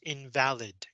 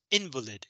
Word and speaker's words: invalid: what this means invalid as an adjective it's pronounced invalid and it means unacceptable but as a noun it's pronounced invalid and it just means